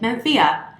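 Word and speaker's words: Mencía: week I'm doing Mencia if you are spanish-speaking you might pronounce it man Thea I pronounce MNZM it is from northwest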